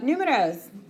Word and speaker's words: número: But número, and the emphasis is on this U right here.